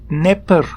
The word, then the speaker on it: Dnepr: Of course, it's the Dnepr rocket, D-N-E-P-R, Dnepr. It's obviously not being pronounced correctly, Dnepr, but anyway.